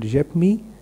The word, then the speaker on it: Yepme: So there is a brand in India called Yepme. It's spelled as YEPMEE.